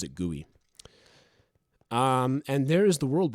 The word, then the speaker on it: GUI: of exploring the end thief says gooey is an acceptable pronunciation yes thief is right